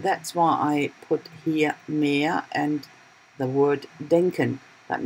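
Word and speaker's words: Meer: of my videos that mere pronounced could be the sea but it could be more so but it's a different spelling of course but it sounds the same and that's why I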